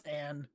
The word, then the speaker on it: Anne: The way you're pronouncing Anna's name is throwing me off. That's how they say it in the game. I know it's Anne, but they say Anna in Bravely Second.